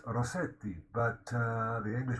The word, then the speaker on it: Rossetti: dante gabriel rossetti of course it should be pronounced rossetti but uh the english pronunciation is rosetta now of course he was an italian descent